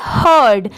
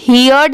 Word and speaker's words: heard: HE, ही, इसे क्या पढ़ेंगे हर्ड। यहाँ पर इसे हियर्ड नहीं पढ़ेंगे, इसकी साउंड क्या आएगी हर्ड, HEARD, हर्ड।